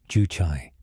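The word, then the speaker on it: 주체: A mainstream fact, Juche, pronounced Juchai, was introduced by Kim Il-sung in the 1950s as North Korea's guiding ideology.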